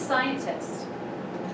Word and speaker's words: scientists: SC but it's actually C is silent I and it's just this is scientists she's a scientist because